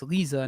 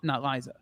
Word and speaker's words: Lisa: just realized I've been saying your wife's name wrong for about a year, so it's Lisa, not Liza. She used to say that it was Liza just because it rolls off of everybody's tongue, but it's Lisa.